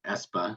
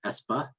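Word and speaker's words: Espe: more recent fight that we have is called espa that's e-s-p-e you might have said sb that's how i used to say it until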